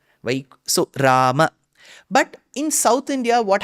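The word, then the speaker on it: Rāma: wrong because generally so that is wrong the north Indian pronunciation of Ram gosh that is also wrong so it's neither Ram nor Rama it is Rama it is neither goind nor goinda it is goinda so I had to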